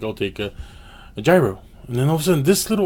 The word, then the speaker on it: gyro: net a gyro well I said a gyro or hero you know the two ways they pronounced it so I'm cinder waiting